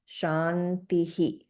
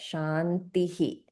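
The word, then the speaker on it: śāntiḥ: So this will get pronounced as shantihi. So there's an echoing of the e sound which is right before the visa and we get shantihi.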